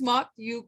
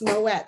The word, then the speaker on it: Mott: Mott, over to you. Okay, awesome. So it's actually pronounced Moet. So just think of Moet and Chandon, and then you'll know my last name, Moet.